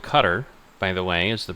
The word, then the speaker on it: Qatar: So they are called cutter by the way is the proper way to say their name. Um, we always refer to them as Qatar because we are American and we don't like care how people pronounce it.